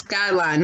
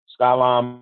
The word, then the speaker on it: Skylyne: He even said his name wrong. It's Skylyne, Mark. You got to do it again because you said it wrong. Oh, wow. Skylyne Mark.